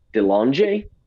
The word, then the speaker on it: DeLonge: How do you say that last name? DeLonge? Got it. Yeah, the French.